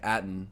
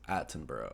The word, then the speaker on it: Attenborough: pronouncing his name because I was saying atton which is the correct American pronunciation but the British and the only way to go really in this case is aten bur so anyways I was